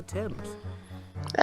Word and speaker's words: Thames: talking about was old Father Thames. You pronounce it Thames, dear.